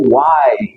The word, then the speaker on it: why: próxima aqui que é o why igual os Madeiros falam why Olha só sempre decora desse jeito foi desse jeito que eu decorei essa pronúncia o ele é o